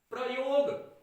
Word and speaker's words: प्रयोग: प्रयोग। प्रयोग नहीं, आज हम प्रयोग करेंगे, ऐसा नहीं होता, उच्चारण गलत है। कहना क्या चाहिए? प्रयोग। प्र कहना चाहिए, प्रयोग, प्रयोग।